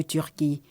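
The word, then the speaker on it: Türkiye: de la prononciation correcte c'est Turquie et on prononce Turquie qui est à l'instar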